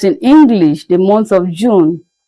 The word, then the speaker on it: June: June, that's in English, the month of June. In French, it is pronounced as June, June, June.